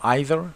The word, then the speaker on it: either: Speaking of pronunciation, you can say either or either, neither or neither, both are accepted.